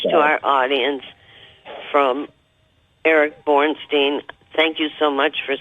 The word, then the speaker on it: Bornstein: And it's Bornstein, and for our audience, that's spelled B-O-R-N, like born, S-T-E-I-N.